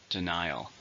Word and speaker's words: denial: adjective or a noun three syllables just as in a second denial the CEO issued it